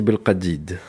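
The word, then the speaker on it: bel kaddid: Le couscous au radid de Mehdi, ou avec la bonne prononciation, Couscous bel radid.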